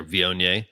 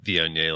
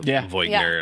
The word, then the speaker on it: Viognier: We were talking about how a lot of people have problems pronouncing Viognier, like you get the Voigner and all the Viogner.